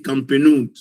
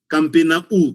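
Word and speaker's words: Campenhoudt: J'avais mon collègue qui avait difficile à prononcer Campenou. Il disait Campenaou.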